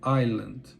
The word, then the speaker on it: island: daquela palavra por exemplo Island se escreve Island em português né mas se fala Island então a minha proposta